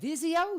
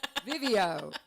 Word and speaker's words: Vivio: It's just Vivio, and they're like Right. Vizio, video, no, Vivio.